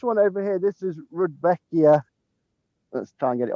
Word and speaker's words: Rudbeckia: one simon eighth firm rudbeckia or rudy becky yes people pronounce it slightly differently i've always called it